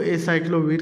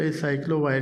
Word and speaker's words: Aciclovir: इसको एसाइक्लोविर के नाम से भी प्रोनाउंस किया जाता है और एसाइक्लोवायर के नाम से भी प्रोनाउंस होती है ये टैबलेट।